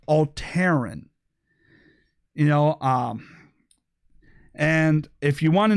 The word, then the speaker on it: Alteran: Now, I know the left might want to say Alti-Ran or, try and figure out some way to make this seem like some sort of alt-right, but it's actually pronounced Alteran.